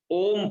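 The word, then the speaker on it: ओम्: ओम पहले बोलते हैं, तो ओम में औ तीन अक्षरों का गुंफन है, लेकिन ओम नहीं उसको उच्चारण करेंगे, ओम बोलेंगे उसका उच्चारण में, ओ ही बोलेंगे, तीन मात्रा ओ बोलेंगे, म को प्लुत लगाते हैं।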